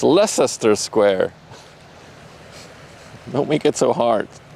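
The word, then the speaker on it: Leicester Square: Leester the square. It's lesser square.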